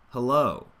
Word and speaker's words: hello: So when you say hello, you don't need any space in the mouth for that first syllable there. It's very quick. It uses that schwa sound, very little vocal energy. But then low, oh, we want that shape of stress.